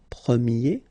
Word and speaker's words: premier: And then the sound will change quite much, because if you think about the masculine form, you pronounce it premier, okay? Premier.